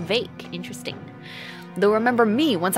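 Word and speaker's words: Vaike: Oh, his name is pronounced Vake.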